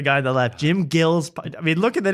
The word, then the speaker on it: Gillespie: I mean, if we've learned how to pronounce joke world, you could learn Jim Gillespie.